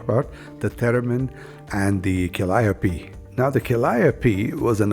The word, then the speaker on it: calliope: Calliope or calliope? Yeah. I found a ditty that explains it. Want to hear it? Yep. Proud folks stare after me, call me Calliope.